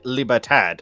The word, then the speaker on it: Libertad: It's why I said Libertad is technically its closer pronunciation.